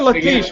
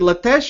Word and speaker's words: Lathesh: is it lates or laes are we pronouncing your name incorrectly is it lates or Lees no it is lates you are right it